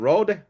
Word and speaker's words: Rohde: So wanted to thank Florian Rohde. I know he pronounces it Road in the US and Rohde, That's right. In German. Europe. Yes.